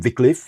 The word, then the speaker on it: Wycliffe: we pronounce him Wycliffe.